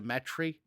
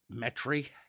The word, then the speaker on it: Metairie: That's how the locals call it, Metry. Gotta put that southern inflection on it. Yeah, if you look at it if you look at it how it's spelled, it's Metairie, but Metry.